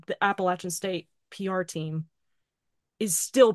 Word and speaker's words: Appalachian: But also the school that they frequently mentioned, which the audiobook narrator consistently mispronounced, Appalachian State University, for the love of God, Appalachian, write that down.